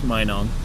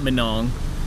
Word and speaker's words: Minong: mayong sure I didn't know how to even pronounce Minong I wanted to call it manong and tro I'm learning there you go I'm